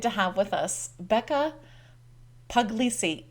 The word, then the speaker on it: Puglisi: Today I'm excited to have with us Becca Puglisi. Becca, is that how you say your name? That's it.